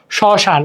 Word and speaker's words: শ্মশান: যেমন শ্মশান, মানে ম ফলারও ক্ষেত্রেও, যেমন বয়ের ক্ষেত্রেও প্রথমে হইলে উচ্চারণ হয় না, ম ফলার ক্ষেত্রেও সেম।